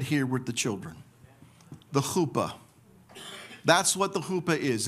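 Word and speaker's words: חופה: It's spelled chet, pe, or fe, he, chuppah. But it can be read this way, chet.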